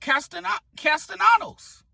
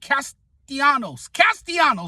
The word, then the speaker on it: Castellanos: I better not hear one negative thing from Philly fans about Castellanos. I butchered his name there, but you guys get what I'm saying. Castellanos, there we go.